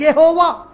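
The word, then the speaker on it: Jehovah: टू the Latin language J कैन नॉट be pronounce as English J इट हैज टू be pronounced as वाई in writing in Latin you will write it एज जे ई एच ओ वी ए एच बट in Latin while pronounce it you will pronounce it एज यहोवा in writing in Latin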